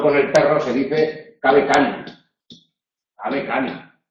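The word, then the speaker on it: cave canem: Nosotros sabemos que cuidado con el perro se dice cabe cani. Cabe cani. Y en los grafitis de Pompeya no se escribe la M, porque no se pronunciaba la M.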